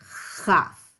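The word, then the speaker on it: כף: deal about it, but if you form a K, everybody say K, K, Hey. K, and then you just push a little bit of air through the K sound. That is how you make the sound chaf. You push a little air through a K.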